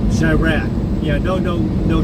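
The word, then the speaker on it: Chiraq: UE I just put I just I just spell it out c h i r a q shyra yeah no no no U no e n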